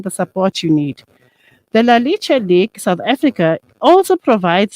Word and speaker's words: Leche: One thing first, it's Leche League, pronounced as Leche. So it means the milk. So it's actually a Spanish word.